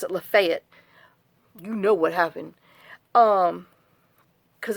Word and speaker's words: Lafayette: They pronounce it Lafayette.